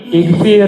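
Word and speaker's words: اغفر: Nah agfiru mah gini bacanya ada kepala ainnya tapi kalau amr enggak ada di sini kepala ain jadi ikfir ini bacanya. Jadi kalau ada hamzah go fa ro ini dibaca ik ikfir artinya apa?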